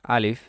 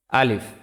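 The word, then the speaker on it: ألف: তো শুরুতে আসি আলিফ মুখের খালি জায়গা হইতে উচ্চারিত হয়। আমার সাথে সাথে উচ্চারণ করুন। আলিফ।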